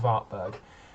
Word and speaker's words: Wartburg: It's called the Wartburg, but I think it's supposed to be pronounced Wartburg. It's again another crap Soviet era car.